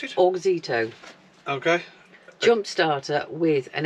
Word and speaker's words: Auxito: How do you pronounce it? Auxito.